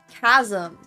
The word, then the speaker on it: chasm: why you say um I know how to pronounce chaos but I I guess chasm must have also come from Greek because you're not pronouncing the ch in it and it must be because cas chasm came from a Greek word.